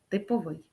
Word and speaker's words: типовий: який є зразком стандартом то маємо вживати наголос на останній склад тобто типовий йдемо далі знайдіть правильний